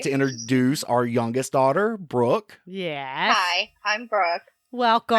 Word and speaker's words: Brooke: Okay, it's Brooke. Not Brooklyn. No, not Brooklyn. Brooke.